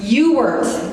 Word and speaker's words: Ewert: Well, how do I say it? Ewert. It's spelled with an E, not a U.